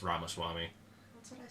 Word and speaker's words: Ramaswamy: Ramaswamy? Is that who it was? I think so. I think it is Ramaswamy. No, it's not. It's Ramaswamy.